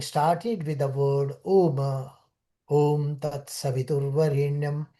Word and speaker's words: Om: So Om is the most prominent name of Brahman, and this Om word is made up of three syllables: A, U, and Ma. A means originator, U, uh, organizer or sustainer, and Ma is a destroyer.